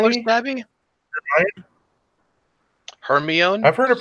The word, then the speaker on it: Hermione: Hermione is supposed to be black. Kinky hair, fucking whatever. She's supposed to be black. Wait, what did you just call her? What did you just call her, Stabby? Hermione?